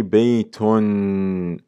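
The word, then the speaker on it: بيتٌ: a tanween it is the extra noon that is added at the end of the word which is pronounced yet not written i say baiton there's a noon there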